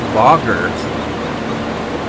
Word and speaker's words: Booger: And I had a customer named Bogger, but that was how he pronounced it, but it was spelled like booger.